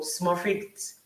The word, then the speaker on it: Smurfit: University College Dublin, of course, with the Michael Smurfit Graduate Business School, right? Did I pronounce Yeah, that correctly?